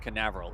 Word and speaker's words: Canaveral: occurs for that occurs in Port Canaveral is the right way to say that also if you head